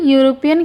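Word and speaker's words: European: यूरोपियन की शुरुआत भले ही यह जो है इ से हो रहा है लेकिन जब हम इसका उच्चारण करते हैं, प्रोनाउंसिएशन करते हैं तो पढ़ते [नाक से की जाने वाली आवाज़] हैं ऐसे यूरोपियन ऐसे होता है ना।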